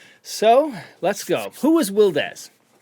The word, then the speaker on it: WilDez: let's go who was wildest how would you describe you um i would describe myself as uh firstly wildes not wilds or wild easy as a lot of